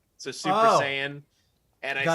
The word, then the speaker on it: Saiyan: got i got into uh who did i mispronounce oh i didn't say uh i said cyan instead of cyan saying it's i said cyan instead of saying so super saiyan and i said cyan and like someone someone